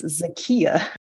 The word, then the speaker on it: Zakiya: ass of myself the whole time we both pronounced it wrong apparently it's zakiya we're gon to call her Harris the whole